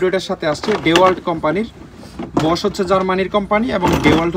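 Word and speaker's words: Bosch: বস, এটা কিন্তু বস না, উচ্চারণটা হবে বস, ব তালিবস্য, বস।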